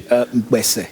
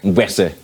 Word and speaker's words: Mkpese: What's the correct pronunciation? Mkpese. Mkpese.